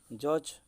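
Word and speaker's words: judge: ठीक से भली जज पढ़ला बेले एटा भी डी उच्चारण आसुना।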